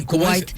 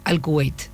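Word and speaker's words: الكويت: el árabe pero sí Kuwait Es realmente es no se dice tanto es al kuweit al kuweit Sí pero bueno traducido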